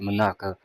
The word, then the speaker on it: Monaka: And it didn't hit who is it, Monaka, that's how you pronounce it, Monaka.